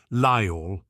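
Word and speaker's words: Lyall: She was Welsh, he recognised the accent now, the way she spoke his father's name in 2 gentle syllables, Lyle.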